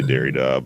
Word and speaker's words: Derrida: cajun philosophical treaties um i think people say dairy dog but i don't give